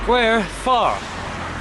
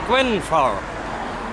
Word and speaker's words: Grwyne Fawr: And I think I've learned how to say the place name properly. Grwyne Fawr. Grwyne Fawr. That's it, Grwyne Fawr.